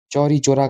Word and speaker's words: चौरी चौरा: तो वो थी घटना चौरा चोरी की घटना, यानी कि इंसिडेंट ऑफ चौरा चोरी, ठीक है, चौरी चोरा, सॉरी, चौरी चोरा।